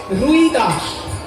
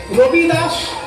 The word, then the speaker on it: রবিদাস: তাকে বাঙালিরা বলে রুই দাস। কিন্তু হিন্দি উচ্চারণে রুই দাস নয়। হিন্দি উচ্চারণে রইদা দাস। রই র হসই রই। আসলে সেটা হবে রবি। রবি মানে সূর্য। রবিদাস।